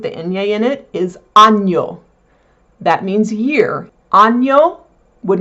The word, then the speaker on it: año: That is pronounced ny, like canyon, c a n y o n the n y is a ny, same in Spanish.